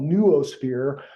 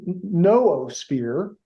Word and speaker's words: noosphere: uh what I call neurosphere uh you know the NW it's a little bit I kind of pronounce it like you would Zoological uh and if you